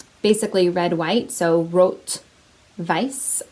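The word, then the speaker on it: rot weiß: basically red white so wrote vice i believe is how it's pronounced in german i took german in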